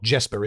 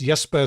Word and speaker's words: Jesper: name is pronounced jper it's not Jesper is it it's yesper St stockstad Nelson hello